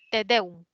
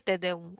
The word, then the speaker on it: tedeum: La siguiente palabra, tedeum. ¿Lleva tilde o no lleva? ¿Qué No dicen lleva. muchas? No lleva, excelente. Es una palabra que es aguda, te deum, ¿no?